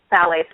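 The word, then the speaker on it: phthalates: h a l a t s but it's pronounced phalates with a th phalates are also ubiquitous they're found in I believe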